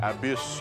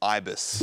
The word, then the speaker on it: Ibis: What if you use the Accor loyalty program to stay at the Abyss Hotel? I think that's pronounced Ibis.